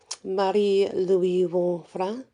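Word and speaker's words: Marie-Louise von Franz: the work of um murray louise von franz or you can pronounce it um mari louis vuon fra um also if you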